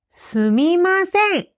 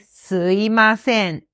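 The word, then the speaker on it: すみません: すみません is the correct pronunciation, but just like in English, people can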